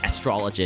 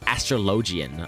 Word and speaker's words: astrologian: you're pronouncing it wrong it's not astrology it's astrologian i'm like since when